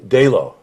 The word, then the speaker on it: Dalo: We got Seth Breedlove and we've got Brandon Dalo. I said it right, good. Because it's spelled what, D-A-L-O or something?